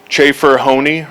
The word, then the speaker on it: Chafer: Chafer Honey, rhymes with pony, as he's told me.